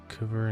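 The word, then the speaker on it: hver: that word Icelandic things the letter combination HV and Icelandic words sounds like HV R and HV a r the V actually turned the H into a k sound so they pronounced cver and kavar who and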